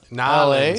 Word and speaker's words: New Orleans: Narlins LA. is how they say it.